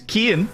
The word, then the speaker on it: Cian: Kian is the player you've been called Cian, and that's one that will catch out non-Irish speakers an awful lot of the time.